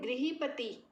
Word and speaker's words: गृहपति: जैसे हम लिखते हैं गृह कार्य, गृही कार्य, जैसे है गृहपति, री है ये। इसको री प्रोनाउंस करना है, इसको र प्रोनाउंस नहीं करना है।